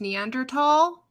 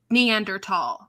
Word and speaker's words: Neanderthal: This is not a discussion point, but I was really frustrated that the documentary mispronounced Neanderthal. A documentary would pronounce it Neanderthal, not Neanderthal.